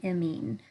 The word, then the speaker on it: amine: asset Alcatel chemistry is amine chemistry I'm not great at kind of spelling things phonetically but if you could think of it like ya mean that's kind of how it's pronounced um I have seen